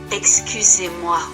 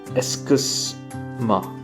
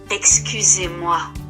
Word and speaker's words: excusez-moi: Excusez-moi. Okay, so that means excuse me. So let's try to say that. Excuse-moi.